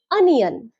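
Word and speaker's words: onion: ফার্স্টের ওটা আমরা অ দিয়ে উচ্চারণ করব, তাই সঠিক উচ্চারণ হবে অনিয়ন। অনিয়ন।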